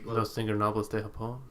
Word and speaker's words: Los Ingobernables de Japón: Los Ingobernables de Japón. Thank you. Man. At least one of us here can say it right. Yeah. I'd be like, Los Ingobernables.